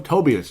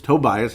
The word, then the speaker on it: Tobias: Tobias, as I'm going to say it correctly. I always call him Tobias. It's Tobias Harris, and I knew it's wrong, and I just could not correct myself, for cripe's sake.